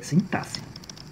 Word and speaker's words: sintaxe: a palavra sintaxe aqui, em que o X ele vai ter o som de SS. Então, a pronúncia correta da palavra sintaxe é sintaxe.